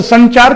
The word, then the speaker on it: संचार: देखो ठीक वैसे यहां पर देखिए, ये अनुस्वार है, लेकिन यहां पर 9 नहीं बोलते हैं हम लोग, जब इसका उच्चारण करते हैं तो संचार करते हैं, यह का उच्चारण करते हैं, ठीक है, क्लियर।